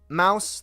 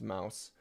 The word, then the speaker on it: Mous: So Mous, that's how you pronounce that. It took me a while to figure that out with a lot of your guys' comments. You told me here it's Mous.